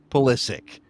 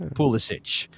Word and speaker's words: Pulisic: Soccer, through the illustrious Michael Cameraman, provided an audio clip of Christian Pulisic saying Christian Pulisic, not Pulisic.